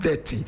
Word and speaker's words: Detty: Now we have something that is called Detty. Even though it is spelled differently, it sounds the same way as that in that is dirty.